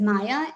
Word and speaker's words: Maja: It was something that I realized later, but you can see it says Maya Maja. The J is pronounced like a Y in Polish.